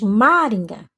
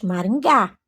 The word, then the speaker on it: Maringá: é a sílaba tônica você não diz Maringa você diz Maringá então G é a sílaba tônica mangua quá e Mossoró